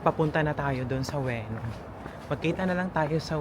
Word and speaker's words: Ueno: Alam mo ba, ang dating bigkas ko dito, Iuno Park. Iuno. You know? Oo. Tapos tinawanan lang ako ni Afam. Kasi hindi na kinorek. Oo, hindi kinorek niya naman ako. Sabi niya, It's Ueno. Ueno.